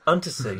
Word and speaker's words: Untersee: How do you pronounce that? I'll just, in Dictionary Corner, it is Untersee.